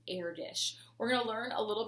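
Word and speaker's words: Erdős: and it's actually pronounced heir dish it's e-r-d-o-s but the way that it is pronounced is air dish we're gonna learn a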